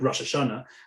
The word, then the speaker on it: Rosh Hashanah: We'll use the what's called the Ashkenazic pronunciation. So we'll say something like Rosh Hashanah, which is grammatically a